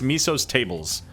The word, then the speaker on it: Miso's Tables: My boy Miso's Tables. I've been told it's Miso's Tables is how you say it.